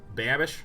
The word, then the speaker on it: Babish: making vids lewis basics with how do you pronounce it babish babish what babish okay great activated abilities of